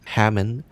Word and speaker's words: Hammond: So, from this first log we learn that red is named Hammond. Which rhymes with almond.